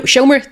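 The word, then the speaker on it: seomra: Firstly, welcome to the Shomra. Thank you very much. How is my pronunciation of that, by the way? No, Shomer, that's perfect. That's perfect. That's exactly how you pronounce it.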